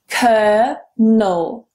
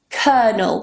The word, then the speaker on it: colonel: Colonel. Colonel. Remove that first L. It's completely silent. Forget it.